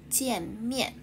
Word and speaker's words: 见面: The first one is 见in 再见. Second one is 面in 面包. Okay, so 见面.